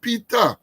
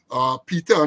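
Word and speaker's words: Peetah: You know, Peter, not Peter. Some people have been saying Peter, P-T-R. It's P-E-E-T-A-H. That is how his name is spelled.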